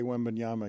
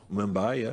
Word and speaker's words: Wembanyama: I want to hear Pat Riley trying to say Wembanyama again.